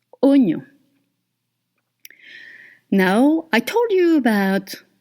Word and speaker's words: oignon: So just to let you know that OI usually in French makes the sound wa. But here, actually, it's O. Oignon.